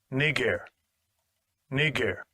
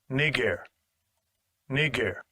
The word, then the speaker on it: Niger: it says Niger but let me let you hear the actual pronunciation of it real quick Strong's G 35 26 knee gear Strong's G 3526 knee gear all